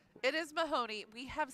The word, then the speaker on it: Mahoney: from her six-year-old yeah so may honey we are mispronouncing his last name it is Mahoney money Mahoney can't even